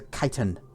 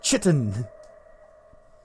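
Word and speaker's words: chitin: which are these are kitan. He's got unique. We have a scaven mask. Thought we did. Thought we picked one of those up. Ken, it's Chitten. It is pronounced Chitten.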